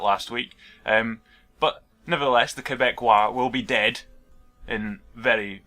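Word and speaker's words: Québécois: Because it's French, it's not whatever I was calling them, Quebecios or whatever. It's Quebecois, I believe. So I was informed of that last week. But nevertheless, the Quebecois will be dead in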